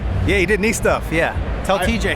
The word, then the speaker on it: NiStuff: I got your name right yeah you did N Stuff yeah tell TJ how to pronounce it I was practicing that all night